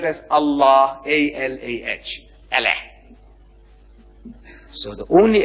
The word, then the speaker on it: Allah: Only thing I'm saying, you must pronounce it the way I ask you to pronounce. Allah, you can spell it. But say Allah, not Allah.